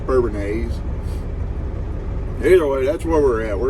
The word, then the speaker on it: Bourbonnais: We are in Bourbonnais, whatever you want to call it, I guess. I think a local guy told me it's pronounced Bourbonnais.